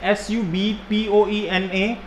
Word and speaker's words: subpoena: The spelling is subpoena, but pronunciation is subpoena.